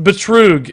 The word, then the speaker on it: Betrug: So, Betrug in German is scam, pronounced Betrug. Exactly, yes. Betrudge?